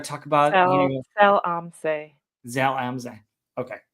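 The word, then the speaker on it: Zell am See: I believe it's pronounced Zem al Zil. We're going to talk about, Sell Amse. Zal Amza.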